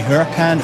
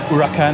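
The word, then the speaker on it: Huracán: is driving the lamborghini huracan urakan i believe it's pronounced which is our hero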